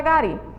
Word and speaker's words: gari: aqui o final aí é a sílaba tônica sílaba tônica é a última ele é uma oxítona se é uma oxítona